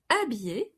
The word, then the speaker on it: habiller: Because habiller starts with a special H, which needs contractions. Tu m'habilles. H muet.